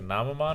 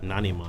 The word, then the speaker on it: Nanimon: What's the name, like Namamon or something like that? Nanimon. That's what he turned into? Nanimon. Dude, no wonder you like that, Nanimon? dude. Nani? That is not what he turned into. You gotta say it like that, You Mark. trying to get ripped, Steve? Rip it. Let's get it on. What are you doing? Dude, his name is Nani? Mon. Nani? Mon.